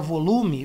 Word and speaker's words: volume: Esse L aqui da palavra volume, você pronuncia como um I praticamente, então fica volume, volume, volume control, tá?